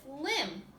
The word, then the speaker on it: limb: there's an M first the same is with limb silent B M first so crumb a baby